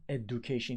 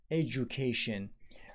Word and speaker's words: education: The word is education. It is not education. It is education. If you say why, I have no idea why the d becomes j there.